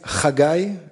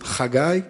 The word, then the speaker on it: Haggai: pronounce the weird name so you have the ha in dutch so you can use it hagai cats one of the oracles from the bible it's a guy and i'm 37 i'm